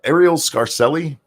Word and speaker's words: Arielle Scarcella: talking about sjw's so how something amusing area Arielle Scarcella that's how you say her name she's the